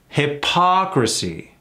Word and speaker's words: hypocrisy: together like that huh hypocrisy let's break that down hocy emphasis on the awe hypocrisy a practice of